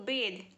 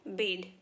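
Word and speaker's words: bathe: टू द river to बेद आई am going to द river to बेद it's call बेद okay B ए टी ए जी इसे बात नहीं बोलेंगे बोलेंगे बेद गीला करना ड्रेंच ड्रेंचड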